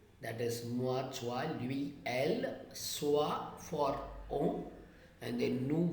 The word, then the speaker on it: elles: Je, tu, il, elle, on, nous, vous, ils, elles, and s is silent there.